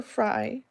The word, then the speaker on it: Frye: a doctor in Arizona called Dr. Fry, and it's spelled Frye.